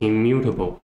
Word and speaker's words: immutable: the first one is immutable immutable immutable let me change the color immutable immutable the stress is on the second left and the second syllable with immutable immune this